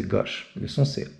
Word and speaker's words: gauche: On va prononcer gauche comme un Marseillais, ok? Avec un O ouvert, donc c'est gauche.